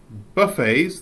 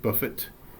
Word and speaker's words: buffet: mean big or large complete the sentences so buffets this is pronounced buffet not Buffett buffets often have a do you think yeah